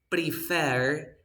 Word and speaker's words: prefer: I prefer to sleep remember we say prefer pre Fair we never say better